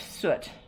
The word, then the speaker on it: suet: more of this beef soot and it's spelled s-u-e-t soot and you can see